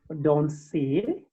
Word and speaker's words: danse: Yes, always know that because of an, we pronounce like on, so you say je danse, je danse.